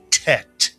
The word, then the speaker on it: Tet: These two letters make the same sound, but this letter is called a Tet. It rhymes with bet.